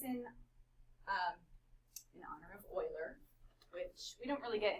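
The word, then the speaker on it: Euler: So, this is in um in honor of Oiler, which we don't really get in. So, Oiler. What's that? Oiler, not any oiler. That's how you say it.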